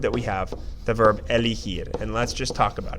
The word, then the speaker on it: elegir: and we know that if a G is followed by an E or an I, it's going to take that H sound. So that means that this verb is pronounced elegir.